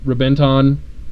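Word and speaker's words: Reventón: The Lamborghini Rebenton, spelled with a V, pronounced with a B, is another cool-looking car.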